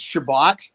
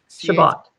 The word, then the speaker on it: Chabot: It's Chabot, Chabot. Chabot, as in Cabot Trail with an H.